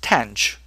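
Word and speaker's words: tanh: And we're going to pronounce this tench which actually rhymes with branch.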